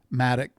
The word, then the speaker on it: Maddock: Brent Brent Maddock Maddo.